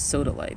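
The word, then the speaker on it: sodalite: one is subtly but some people actually pronounce it soda light but I guess I'm gonna stick with satellite for now that's what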